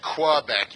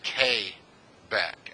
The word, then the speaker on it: Quebec: letters P is su and you don't say Quebec you say que back as if it was spelled ka Y there's correct pronunciation pronunciations it's like the letter 9 and